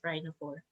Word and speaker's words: rhinophore: rhinophore okay so pakme rhino4 most yeah it's spelled r i n o p h o r e s rhino four and then these are the ardiodoris and yeah